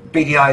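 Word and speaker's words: Beady Eye: instagram is bdi photography bdi is spelled b-e-a-d-y-e-y-e rather than the initials bdi uh we're not particularly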